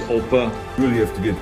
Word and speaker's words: Opa: grandpa grandpa or oppa in german it's oppa you really have to